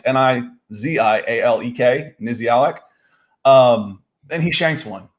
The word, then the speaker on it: Nizialek: It's Nizialek.